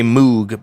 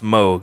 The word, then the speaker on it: Moog: moog a synthesizer a lot of people say moog but it's actually pronounced moog i asked the people at the company but